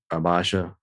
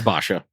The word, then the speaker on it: Basha: I thought the the fights between her and Bash or like Abasha. Yeah, it's Basha. However you say his name, it's Basha.